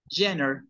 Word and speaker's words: genre: Haz de cuenta que dices Kylie Jenner. Jenner.